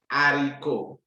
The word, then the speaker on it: haricot: Haricot. The H is silent.